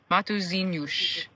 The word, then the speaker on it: Matosinhos: The tourism center has a stamp, and we asked them how to pronounce the name, and it's Matosinhos.